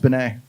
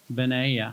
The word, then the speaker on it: Bennett: Tony Bennett I think it's pronounced Benet Benet yeah Tony probably that's how